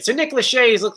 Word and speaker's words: Nick Lachey: pronounced Let's see here. Nick Lachey. Nick Lachey, that's right.